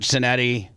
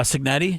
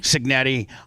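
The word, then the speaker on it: Cignetti: attributing Indiana now listen Curt Senetti is that how you say his name uh signetti signetti obviously is probably the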